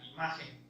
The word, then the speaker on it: imagen: muestra o cuando nos dice es la palabra imagen.